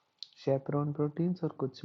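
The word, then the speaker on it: chaperone: चैपरोन भी बोल सकते हैं या फिर शैपरोन इसका एकदम सही प्रोनाउंसिएशन है।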